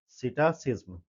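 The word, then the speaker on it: psittacism: ठीक है? सिटासिज्म। P silent है।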